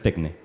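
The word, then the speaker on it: techné: Entre paréntesis, van a ver muchas veces que se escribe tecné, se pronuncia tecné, porque es la traducción francesa, que si no tiene que tener el acento para que se pronuncie, pero es tecné.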